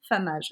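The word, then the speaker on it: femmage: Et donc ça s'écrit fait mage parce que ça ça s'écrit comme femme mais ça se dit une femme âge.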